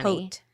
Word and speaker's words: haute: It's code HOAT20, and that's HAUTE, HOAT20. Hote. That's how you say it.